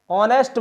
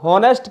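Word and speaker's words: honest: अगला उदाहरण, Rahul is एन ऑनेस्ट बॉय, यानी शुरू तो एस से हुआ है, एच यहाँ साइलेंट हो जाता है तो हॉनेस्ट की जगह ऑनेस्ट लिखा जाता है, ऑनेस्ट, तो हमने वहाँ एन का प्रयोग किया है।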